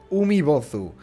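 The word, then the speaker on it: Umibōzu: Se pronuncia Umibozu.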